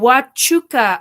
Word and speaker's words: Huachuca: Oh, Huachuca. Oh, thank you, Huachuca. Okay. Kind of like a sneeze. Yes, Huachuca. Okay.